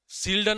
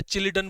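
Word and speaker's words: Schleiden: सील्डन अपन उसको आप सीलडन बोलो या चिलिडन बोलो एस साइलेंट बोल दो जो आपकी मर्जी हो बोल सकते हो।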